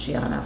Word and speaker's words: Diana: of his compositions Giana spelled Diana but pronounced Giana for uh flora and